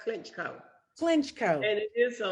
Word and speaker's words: Clinchco: It's pronounced Clinchco.